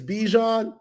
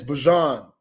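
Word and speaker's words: Bijan: People think it's Bejon. It is not Bejon. We've been calling him that ever since he touched down at Texas. It's Bjon Robinson." Bjon. Yeah. Bjon.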